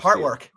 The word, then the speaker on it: Heartwork: No, the simplest carcass album is uh Surgical Heartwork. Oh, Heartwork. Yeah. Yeah. Two syllables. Two syllables.